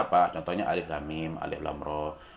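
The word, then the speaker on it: الر: Contohnya alif lam mim, alif lam ro. Tidak dibaca alama gitu ya, tidak dibaca alaro, tetapi harus dibaca sesuai dengan sifatnya atau huruf aslinya.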